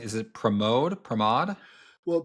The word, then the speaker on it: Pramod: And that's when you added, am I pronouncing, is it Pramod? Well, Pramod Sadalage, yeah.